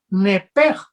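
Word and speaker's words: נפש: de esta palabra vida en el hebreo es un ep que se pronuncia knepper que es el alma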